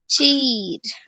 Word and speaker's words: चीर: Next है च, च को बड़ी ई, चीर। चीर। देखो सुनो अच्छे से, ये बड़ी ई है, इसका उच्चारण लंबा किया जाता है, ई।